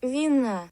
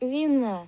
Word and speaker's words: вина: still stressing the second syllable, which is correct, but if we give it wines, then it'll say Вина. which is wrong. This version of the word is stressed on the first syllable, but the machine kept it on the second.